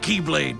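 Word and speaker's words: χ-blade: it means the x-blade it's just pronounced like keyblade even though it's just one keyblade ah the series is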